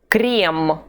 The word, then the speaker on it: крем: The first of the 2 is closed. E. E. Крем.